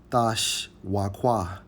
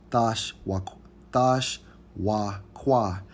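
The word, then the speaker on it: תְּשׁוּקָה: Hey, and when we go into the Hebrew term for desire in Genesis 3:16, it's Strong's H 8669, pronounced as Thash Wakwa. Thash Wakwa.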